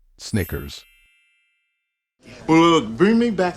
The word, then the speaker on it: Snickers: my years of experience many non-native speakers tend to pronounce this word as sneakers however sneakers are sport shoes in this word the middle sound should be short like in the word it so it's not sneakers it is Snickers well look bring me